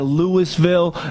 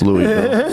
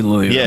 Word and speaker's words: Louisville: Devonte Parker at Lewisville. You know, he was uh it's Lewisville. No, it's Louisville cuz Yeah, the S is silent, but I like I like Lewisville.